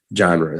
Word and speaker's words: genre: weird really weird word it looks like it should say like genry or something but genre i mean people say genre in the united states okay up next we